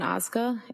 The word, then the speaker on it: Ozga: Tell us your name, please, and spell it. It's Ozga.